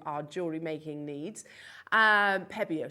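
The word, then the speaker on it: Pébéo: hour to talk about pueblo pens and incorporate them into our jewelry making needs um pebeo sorry beg your pardon i pronounce it wrong uh posca pens at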